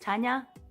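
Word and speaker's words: Tanja: because I'm from Croatia so my name is pronounced Tanya and it's filled with a j t a n j a so that's a big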